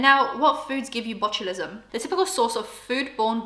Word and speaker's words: botulism: let's actually look up on botulism actually means botulism is how it's pronounced before anyone tries to correct me um